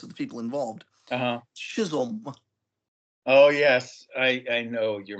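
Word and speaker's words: Chisum: Chisholm. Oh yes, I know your mispronunciation.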